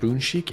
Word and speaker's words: Bunsik: I was told it's actually pronounced Bunsik, and it's become a go-to spot for Korean street food in London.